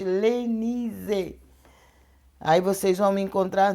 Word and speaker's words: Lenize: Mas sala de oração, missionária Elenise, eu falo para pronunciar assim bem forte, Lenise.